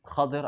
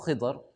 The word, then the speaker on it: Khidr: But in that circumstance, in that scenario, in that situation, Allah subhanahu wa ta'ala had made Khidr alayhi salam, or Khidr, the three pronunciations of the name.